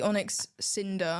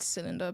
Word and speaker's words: Onyx Cinder: a Pokémon yes the Onyx Cinder I think I said cylinder but it's not that so there's a little